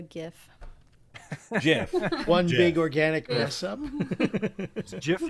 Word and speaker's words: GIF: one big organic mess-up jiff like the peanut butter i used to say jiff and then i said you conformed people beat it out of me you gave in enough